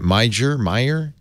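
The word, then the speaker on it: Meijer: Should we as consumers, Meyer, M-E-I-J-E-R is pronounced Meyer.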